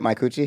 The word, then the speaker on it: Micucci: Micucci?